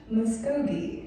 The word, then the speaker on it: Muscogee: Muskogee.